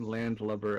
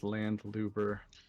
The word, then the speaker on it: landlubber: You know, I think one of the funniest things, Fig, about our escapades with Tile last night is that he pronounced the word landlubber as landluber.